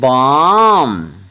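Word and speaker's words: balm: क्या पढ़ना है पाम बी ए एल एम बाम और एस ए एल एम ओ एन इसको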